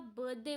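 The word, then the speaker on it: birthday: Okay, सबसे पहले जब आप बर्थडे बोलते हैं, ठीक है, बहुत सारे लोग बर्थ डे अलग करके बोलते हैं. बर्थडे, हमेशा याद रखना आर यहाँ पे साइलेंट है. बर्थडे में आर साइलेंट होता है.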